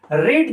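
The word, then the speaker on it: read: is this novel not, रीड जो है वो प्रोनाउंसिएशन में रेड हो जाता है बट वो लिखने में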